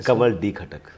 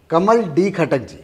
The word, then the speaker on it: Kamal D. Khatak: लिया मैंने सर जी नहीं आपने नाम गलत लियास बीच में से आपने डी हटा दिया अच्छा सर कैसे प्रोनाउंस करेंगे कमल डी खटक कमल डी खटक जी ये मेरा स्क्रीन